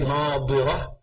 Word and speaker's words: نَاظِرَةٌ: And when you come to a verse like, وُجُوهٌ يَوْمَئِذٍ نَاظِرَةٌ إِلَىٰ رَبِّهَا نَاظِرَةٌ, ظَا in both, no, ضَاد and ظَا. So you have to say, نَاظِرَةٌ and نَاظِرَةٌ. It's different.